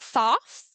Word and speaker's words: Thoth: Thoth, I think is how you say it. Maybe Toth, it's T H O T H.